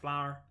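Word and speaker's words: flawyer: Partially because flower in this case is spelled F-L-A-W-Y-E-R, flower.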